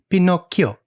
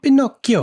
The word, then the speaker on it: Pinocchio: Because the actual, like, the way you're supposed to pronounce it is Pinocchio. Pinocchio. Yeah, Italian. It's like two separate things.